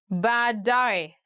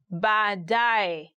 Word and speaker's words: baadaye: Today we are going to look at 10 hardest words to pronounce in Swahili. Baadaye, later. Baadaye, later.